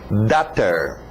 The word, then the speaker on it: daughter: Alright, lembra da pronúncia de water? Então só muda o W para um D. Daughter.